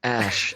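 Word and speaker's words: Æ: She's great at names, Musk said, adding, it's just X, the letter X, and then A-E is pronounced Ash, and A12 is my contribution, which he says stands for Archangel 12.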